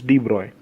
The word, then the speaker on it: de Broglie: de Broglie said deploy the pronouncation is de bruyne the de bras said